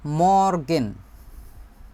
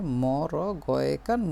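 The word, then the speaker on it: Morgen: ডে সকাল খুবই গুরুত্বপূর্ণ মরগেন যদি আমরা এটা বাংলিশ করে লিখি শুধুমাত্র উচ্চারণটা এটা হবে হচ্ছে মর গান ন মরগেন মরগেন উচ্চারণ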